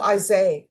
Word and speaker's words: Isaiah: Oh, Isaiah. Okay, the H is silent.